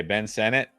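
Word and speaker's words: Ben Sinnott: another one here all it's pronounced like Senate okay Ben Senate yeah I like Ferguson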